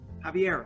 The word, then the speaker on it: Javier: is to pick up javier heavier javier javier right javier correct javier javier he works